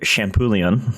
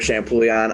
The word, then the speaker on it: Champouillon: your last name actually champoulian champoulion and pugliani like shampoo and chicken bouillon so uh today i'm here with uh ryder shampoo leon if i pronounce that